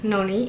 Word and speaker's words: noni: where all those different noni's are listed. So, wish me luck, I'm gonna try to say it properly. So the first one is where the emphasis goes on the first syllable. It's noni.